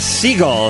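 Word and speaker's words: Segall: we're back love line we got pamela seagull here the correct jewish pronunciation of her name you can see her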